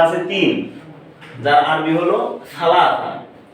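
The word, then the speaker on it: ثلاثة: তিন কিন্তু লোকমুখে সৌদি আরবের লোকমুখে যেটা উচ্চারণ করে এই থাটাকে তা উচ্চারণ করে অর্থাৎ তালাতা বলে তালা এটা হচ্ছে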